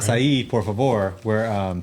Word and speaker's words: Açaí: It is spelled like Wilshire. I know. Yeah. I know. English, man. English language, terrible. All right, Açaí, por favor.